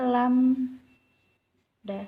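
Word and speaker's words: lambda: dibaca tulis di sini ya bacanya lam dah the movie Hai panjang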